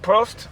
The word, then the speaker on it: Prost: Prost? Prost, yeah.